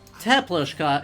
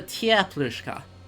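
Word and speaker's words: теплушка: It's usually anglicized as IE. But it's not a teplushka, it's a tieplushka.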